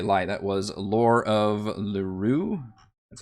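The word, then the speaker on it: Lurue: That was Lore of Lurure. That's how you pronounce it.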